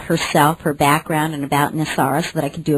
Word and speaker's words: NESARA: It's been, in its acronym, it's pronounced N.E.S.A.R.A.